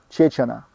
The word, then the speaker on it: Чечана: Чеченцы , акины и аухи называли его Чечана». Произносится с ударением на первом слоге.